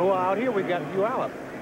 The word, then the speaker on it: Puyallup: Well, out here we got Puyallup. Is that how they pronounce that? Puyallup. I thought it was Taliyah. It's Puyallup, huh?